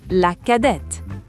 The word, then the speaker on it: cadette: When referring to a female, we use la cadette. La cadette. Here the T is pronounced.